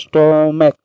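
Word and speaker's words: stomach: तो अब इसी का एग्जाम्पल ले लेते हैं, जैसे स्टोमैक ले लेते हैं, स्टोमैक, तो स्टोमैक का जो लास्ट का उच्चारण आया, जो क आया, च नहीं है, तो इसका क्या हो जाएगा, सिर्फ S लग जाएगा, स्टोमैक।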